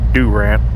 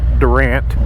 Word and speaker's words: Durant: Durant, and yes, and I think people actually pronounce it Durant. You would think from the way that it's spelled, it's Durant, but I believe they pronounce it Durant.